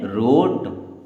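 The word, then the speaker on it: wrote: knives क्या पढ़ेंगे knives W आर ओ टी ई इसे पढ़ते हैं रोट आर आई जी एस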